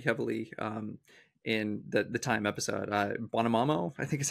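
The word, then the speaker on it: Buonomano: Bonomamo, I think is how you pronounce his name. Yeah, Bonomamo.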